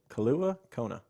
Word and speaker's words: Kailua Kona: I hope I pronounced your city right. Kailua Kona.